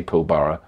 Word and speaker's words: Pilbara: iron ore mine pillar I would say pilbara pilbara apparently is how you say it Western